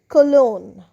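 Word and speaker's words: cologne: আরেকটি শব্দে আসছি কলোন। সি ও এল ও জি এনই কলোন। এখানেও কিন্তু নিয়ম অনুসারে জি এন পাশাপাশি। সো জি এর উচ্চারণ হবে না।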